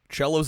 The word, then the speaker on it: cello: Cello's a good one. Piano possibly. It's pronounced cello, but there is there no H?